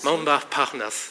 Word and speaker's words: Montparnasse: By the way, this morning I was walking from my hotel to this area, passing through this area called Montparnasse. Montparnasse, thank you for correcting my pronunciation.